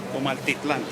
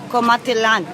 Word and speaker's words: Comaltitlán: Comaltitlán. Comaltitlán.